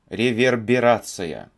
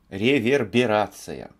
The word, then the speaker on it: реверберация: я неправильный произнес реверберация реверберация вот как правильно произносить это слово и у меня